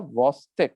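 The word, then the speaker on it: Chvostek: The video that I have shown you is called as the Vostex. The CH is silent.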